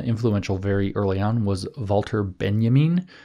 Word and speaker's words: Walter Benjamin: very early on was volter Benjamin which you would spell as an English-speaking person Walter Benjamin but it's not pronounced that way and uh Benjamin was